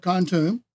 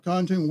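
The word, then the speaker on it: Kontum: But I also want you to go online to the Battle of Khantoum. That's how it's spelled, K-O-N-T-U-M.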